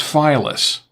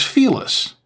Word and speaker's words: Felis: During the stream, I kept referring to the wine as Phyllis. The correct pronunciation, I've been told, is Felis. I've heard it both ways.